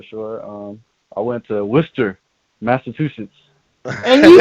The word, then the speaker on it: Worcester: say that for sure um i went to worcester massachusetts and you said it right good for